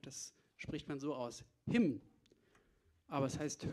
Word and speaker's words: Hymn: Und von dieser Platte spielen wir jetzt ein Stück, das spricht man so aus. Hymn. Aber es heißt Hymne.